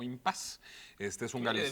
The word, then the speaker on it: impasse: de la palabra impasse que se escribe con un doble s que es traigo un doble de selle y que generalmente pronunciamos como impase este es un área